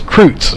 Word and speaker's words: Kreutz: did get confirmation while there it is Kreutz so that is how you pronounce it so we did